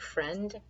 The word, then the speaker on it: friend: We pronounce it friend. There's an I in there for some reason, and the best way to avoid forgetting that I is to say fry end.